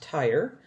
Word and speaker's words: Tyre: region of tyre yes and jim it is pronounced tyre and scion a canaanite woman from that vicinity